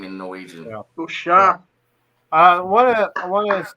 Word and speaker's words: Solskjaer: Solskjaer.